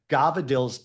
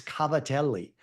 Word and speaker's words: cavatelli: But when an Italian guy, screws it up, like Gabardelles is Cavatelli, that they've just taken in dialect and just mumbled. Cavatelli.